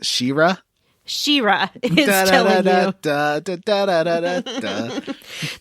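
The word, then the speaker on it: Shera: Oh, and it's his assistant, Shara, who is telling you this. I believe it's pronounced Shira.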